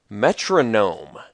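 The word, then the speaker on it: Metrognome: so this is a it's spelled me t r o g n n o m like gnome like a little gnomish creature like a dwarf or something like that um not a metronome like m o n o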